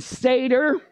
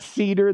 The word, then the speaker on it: seder: a Passover Sader everybody say the word seder good it's not Cedar that's a tree now the Hebrew word